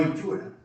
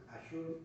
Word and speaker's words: Azure: No Inchura, Azure. Bueno, se escribe Azure.